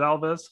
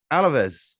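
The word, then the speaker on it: Alavés: point, really played into Alavez's. Am I pronouncing that right? Is it Alves? Alaves. Yeah.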